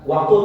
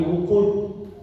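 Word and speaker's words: وقود: Wa quri'at dhamil wawi bi ma'na al-ittiqal, ada yang bacanya bukan waqud tapi wuqud.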